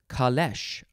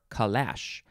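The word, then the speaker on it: calèche: little while before we see that next is kalesh or kalash c-a-l-e-c-h-e you can have an accent over that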